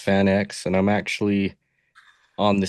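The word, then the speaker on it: FanX: It's uh it's pronounced Fan X.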